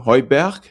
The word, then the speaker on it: Høiberg: It's a Danish name. Yes, Høiberg in Danish. Yeah, because it's very similar to. I lived in Germany for a bit, and the pronunciation is somehow similar. I would say, like the Berg kind of thing.